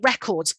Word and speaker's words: record: down here of using records as a noun so she broke the world record you can hear the stress lives on that first syllable compared to when it's